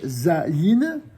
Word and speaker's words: Zayin: Et comme cela est écrit d'ailleurs dans le bouquin, c'est la lettre qui s'appelle Zayin. Elle se prononce Z.